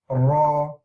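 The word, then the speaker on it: ر: Ra. The Ra is pronounced by the tip of the tongue touching the front area of the palate, which is very similar to English. I put same as English over here, but it's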